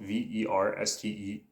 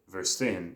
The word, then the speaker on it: verstehen: It is actually spelled Verstehen. So verstehen, if you read that with an English pronunciation, but V makes the F sound.